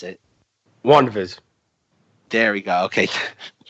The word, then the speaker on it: WandaVision: Imagine if Marvel released Avengers Endgame, WandaVision, Russ, what do you call it? You didn't pronounce it correctly. Okay, how am I supposed to pronounce it? WandaVision.